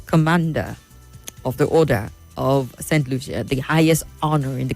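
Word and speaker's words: Saint Lucia: Our president was at St. Lucia. That's how it's pronounced, right?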